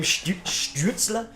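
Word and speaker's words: Stützle: it dude it's it's a fun name tim schizzler there you go perfect everyone i want everyone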